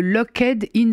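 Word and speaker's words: locked-in: dise pas de conneries, le Lockheed-In syndrome, prononcé à la française.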